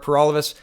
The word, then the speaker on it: Paralovos: trudeau thanks for watching everybody my name is pur all of us that rhymes with for